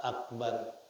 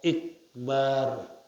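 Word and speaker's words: أكبر: B Akbar tidak memanjangkan Mad pada ba Akbar enggak dipanjangin Akbar enggak dipanjangin kalau dipanjangin tidak sah walauqala maka jikalau dia mengatakan Allahu akbar lam tanqid shatuhu niscaya tidak sah salatnya enggak sah kalau diucapkan Allahu akbar salatnya enggak sah sawaun futihal hamzatu Al kusiroha sama saja difathah kan hamzahnya Akbar atau dikasrahkan Ikbar jadi sama saja diucap allahu akbar allahu Ikbar dua-duanya enggak sah Nah kenapa lianna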